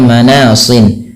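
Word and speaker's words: مَنَاصٍ: Ini kan awalnya manasin karena kita sukun maaf karena kita wakaf dimatikan suara shadnya maka menjadi manas.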